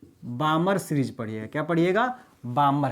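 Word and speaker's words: Balmer: क्या होता है, बामर। कई लोग इसको जो है बाल्मर पढ़ते हैं, पर बाल्मर मत पढ़िएगा, बामर सीरीज पढ़िएगा।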